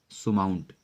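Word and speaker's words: surmount: अगला वर्ड आपका है सुमाउंट। यहाँ आर साइलेंट मोड पे है।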